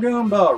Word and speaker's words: Goomba: Goomba, Goomba, rhymes with Roomba.